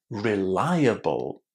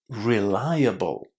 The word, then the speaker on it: reliable: So, what you need to remember about this word is that it comes from the verb rely. And it maintains its pronunciation rely. And then the ending is really, really short.